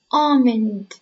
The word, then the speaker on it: almond: agricultural area agricultural area almond almond almond the L is silent Vine Vine Vine Valley